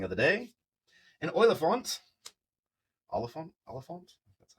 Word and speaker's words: Oliphant: Oliphant?